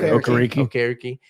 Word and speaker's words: Okereke: I'm not going to butcher Okereke.